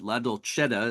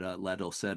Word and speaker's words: Ladolcetta: We just discussed the pronunciation of your name, Dawn, and you said Ladolcetta is the proper Italian name, right? But Correct. okay, but Ladolcetta is kind of an anglicization of the name.